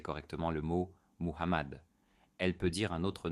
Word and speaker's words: Mohammad: Remarquez que le nom du prophète Mohammad doit être prononcé correctement, sinon le témoignage n'est pas valide. La lettre H dans ce nom doit être prononcée de manière douce avec souffle.